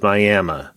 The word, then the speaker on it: Miami: It is spelled Miami, but in Oklahoma, it is Miami.